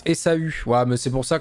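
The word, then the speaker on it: Ésaü: Ça se prononce Esaü.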